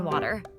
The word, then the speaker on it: water: Notice the flap tea in water.